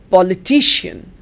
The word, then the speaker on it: politician: second syllable examinee examinee politician politician not politics but politician politician where is it coming it's coming on the third examinee is different from